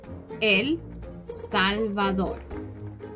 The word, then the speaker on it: El Salvador: In English, it's often referred to as El Salvador. The correct way to pronounce it is El Salvador.